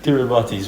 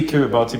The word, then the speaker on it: Kiribati: I actually have no idea why, but it's pronounced Kiribati. It is, but What? Kiribati? Yes. It is. It's I don't have a problem with it being. Yeah, the TI becomes an S, but I thought they spelled it that way.